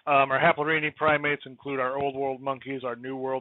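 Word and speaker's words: Haplorhini: so our haplorhine primates or the plural pronunciation is haplorvini um our haplorani primates include our old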